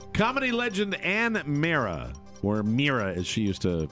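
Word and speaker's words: Meara: Legend an mea or merera as she used to pronounce it I it's isn't it Mera it's like it's like my name with with the without the O that's that's all it is she died Saturday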